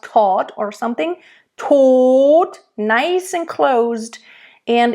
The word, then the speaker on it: Tod: Tod, nice and closed. And in German, when there's a D at the end, it's usually pronounced like a T.